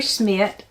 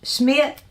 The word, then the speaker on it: Schmidt: The Wednesday Wars by Gary Smith he said it's Schmidt I guess that's how you say his name um this one I've